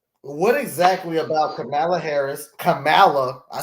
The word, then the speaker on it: Kamala: named Pamela we don't call her Pamela but kamla is how you pronounce her name your sister's name is pam